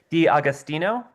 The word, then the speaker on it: D'Agostino: Is it D'Agostino? Did I get anywhere close? Yeah, that's right.